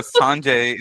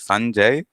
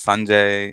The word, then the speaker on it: Sanjay: I I think uh Sanjay is not is not the right way you would go about pronouncing the name yeah so it is the the pronunciation and the emphasis is on the first syllable usually so it is Sanjay and uh so it